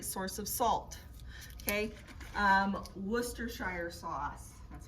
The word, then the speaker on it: Worcestershire: is a great source of salt okay um worcestershire sauce that's how you say it worcestershire sauce um ketchup mustard these are all sources